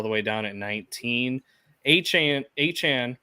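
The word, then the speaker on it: Achane: Achan, which it's Achan, by the way. That is how he wants it pronounced, is Achan. It's not Achan.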